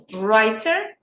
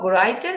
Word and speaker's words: writer: is a writer perfect writer W you don't pronounce it's not greater it's brighter very good excellent next